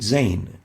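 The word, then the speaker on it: زاي: a whistling sound is it's named zayn as in reign but exchanging the r with the zed zayn so zane is pronounced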